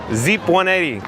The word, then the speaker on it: Zep180: Zep180 says it's pronounced Z-ep, like Jeep. So, Zeep with the Z. How about that? Zeep. Zeep 180.